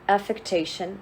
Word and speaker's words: affectation: here um yes right there is a in an extra syllable here it's an affectation and this is affection affectation and affection are